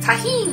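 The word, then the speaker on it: Tajín: Tajin.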